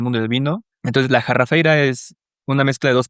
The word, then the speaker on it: Jarrafeira: cae de los árboles, ¿por qué es la jarrafeira? ¿Y sí se dice así? ¿Se pronuncia así? Sí, sí, sí, totalmente.